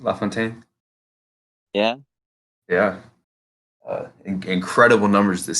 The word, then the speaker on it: LaFontaine: LaFontaine.